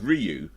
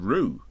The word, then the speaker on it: Ryu: Because a lot of times people say Ryu, right? Yeah. It's actually it's Ryu. Yeah. Oh wait, actually, more like it's actually more like Ru. Okay, wait a minute. Maybe I've said it wrong as well. Then you say it's pronounced Ru.